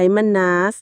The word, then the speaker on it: Mannaz: ของ ตอน นี้ คือ มัน นา อ่าน ว่า มัน น สัญลักษณ์ เหมือน ตัว m